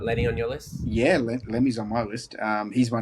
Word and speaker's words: Lemmy: My number 3 is Lenny Kilmister. I think I pronounced that correctly. Lemmy, yeah.